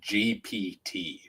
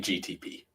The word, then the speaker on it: GPT: It's chat gpt. That's what I said. Yeah, you've been saying GTP. No, GTP. Oh, GPT.